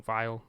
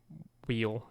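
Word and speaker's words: Weil: or two-part series on Simone Vay or Simone Vile, Simone Wheel, however you pronounce that last name. I think it's Vy.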